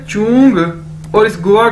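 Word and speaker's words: 中: ये देखें, next word है हमारे पास ZHONG, चोंग, चोंग, चोंग। कैसे बोलेंगे इसे, जैसे चोंग, चोंग, ZH यानी चे। चाइनीज में ZH को चे के तौर पर प्रोनाउंस करते हैं, यानी चोंग, चोंग।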